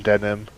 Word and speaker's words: Denim: Hello, I am Denim. It is pronounced yes, like the jeans.